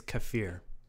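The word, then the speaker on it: kefir: The whole video is like everyone comments and like you pronounced it wrong. But it's uh they say it's kafir.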